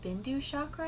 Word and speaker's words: bindu chakra: base of your skull it's called a bindu chakra i'm pretty sure is the right pronunciation of that my friend matthew was